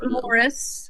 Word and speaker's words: Maurice: And he can or Morris, as I've heard some people pronounce what would be Maurice to an American.